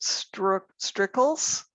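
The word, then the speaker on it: Strircles: hard to pronounce, but I pronounce it strickles, S-T-R-I-R-C-L-E-S, which is an odd spelling, but hey, but we're going to do it a little different.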